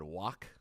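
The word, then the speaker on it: Quogue: 674 montauk highway east whatever he said wak it's spelled q-u-o-g-u-e but that's what he said east huak it's a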